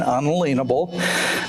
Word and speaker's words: unalienable: Declaration of Independence, the purpose is to protect the natural or unalienable, and that is the correct pronunciation, unalienable, rights of each individual.